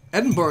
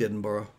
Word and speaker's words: Edinburgh: tyke um i liked edinburgh edinburgh the guy on the plane said it's like americans saying bread and butter that's how you say edinburgh so i never said edinburgh